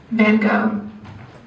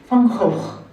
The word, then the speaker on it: Van Gogh: And in English, the American English, is pronounced as Van Gogh. In British English, Van Gogh. in German, Van Gogh. and the original, Van Gogh.